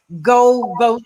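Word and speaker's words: Geaux Vote: Louisiana is very innovative with this Go Vote application that you can download to your cell phone. GEAUX is how it's spelled.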